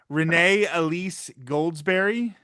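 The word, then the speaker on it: Renée Elise Goldsberry: And I'm going to try the pronunciation. I'm going to try Renee Elise Goldsberry.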